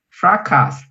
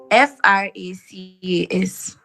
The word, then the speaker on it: fracas: Fracas. Wow, let me check this word. How is it spelled? Say. FRACAS.